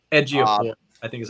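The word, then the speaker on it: Chiwetel Ejiofor: His fucking name is like really difficult to pronounce. Ejiofor, I think is how you say it. Okay. It's like Tuil Ejiofor, something like that.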